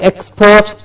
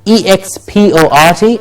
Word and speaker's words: export: I'll say the word as a noun. Export. Okay, export. And as a verb, how will we say it? How did we say? What do we do when we need to stress the syllable? Of course, with a little more effort, but what we can also do is elongate the vowel sound. Yes. So what we do is, it's export as the noun, and to export something.